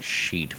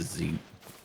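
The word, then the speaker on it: xeet: Some people are saying sheet, but it's zeet. Like xylophone, right?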